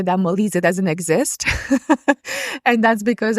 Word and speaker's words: Molise: How do you pronounce that? Molise.